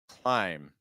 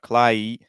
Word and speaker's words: climb: word taking a look this one climb clim again also similar to what we talked earlier with thumb and now we can use our ey sound okay so I cly make sure that when you add the L you don't raise the placement to too much so it's not clly it's cly I kly